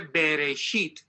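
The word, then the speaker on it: בראשית: La primera palabra en Génesis, la primera palabra en hebreo, está ahí pronunciada, se dice Bereshit.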